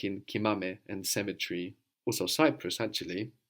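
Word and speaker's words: κοιμάμαι: Now we're accenting the endings now. Kimame, kimasse.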